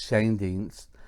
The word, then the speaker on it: Schoendienst: My bench starts off with Red Schoendienst. That's how it's pronounced, actually. From what I looked it up, it's Schoendienst, and he played from 57 to 60 with the Milwaukee Braves.